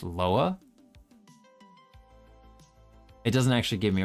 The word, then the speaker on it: lwa: Lwa. Lowa. That's interesting. It's spelled L WA, but it's pronounced Loa.